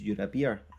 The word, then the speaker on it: Urubai: well and edelweiss says urubai is pronounced you're a beer i can always have